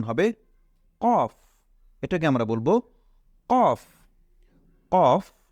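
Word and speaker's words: كاف: calf এরপরেরটা হলো লাম calf এবং কফ এই দুইটার মধ্যে আমরা সবসময় পার্থক্য নির্ণয় করব যে কফ সেটা মোটা হবে আর কাফ সেটা হবে চিকন তাহলে এটা হলো কাফ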